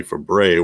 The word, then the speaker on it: Fabray: bad seed discussion shelly fabray was the niece of nanette fabre and both were tv staples for many years they both pronounced their name as fab ray shelley started her fame